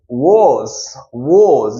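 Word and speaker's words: was: और वाज, वोज इसका pronunciation होता है वोज।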